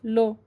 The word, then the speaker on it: lu: some teenagers, they say lo. Hey lo, what's poppin'? Lo. So they I mean, you write that with u, but they pronounce it lo in the slang.